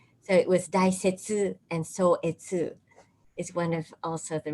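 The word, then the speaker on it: Sōetsu: his papers his letters a so-etsu it's another way of reading the same chinese characters one is probably he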